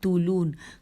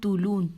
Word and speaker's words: طولون: عنوان ہے احمد بن طولون۔ طولون کی ہجے کرتے ہیں توئے واو لام واو نون۔ لکھا ہے احمد بن